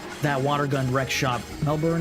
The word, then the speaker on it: Melbourne: water gun wck shop Melbourne is pronounced melbour Melbourne also hi what's up Anna how you doing it's Melbourne really I feel like there's too many there's too many letters for all that melbin Anna how you doing